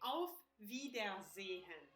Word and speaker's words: auf Wiedersehen: First of all, you can say auf Wiedersehen.